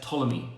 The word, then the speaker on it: Ptolemy: And the empire, or the dynasty at the time, was controlled by the kings who were known as Ptolemy, with the silent P at the beginning. P-T-O, Ptolemy.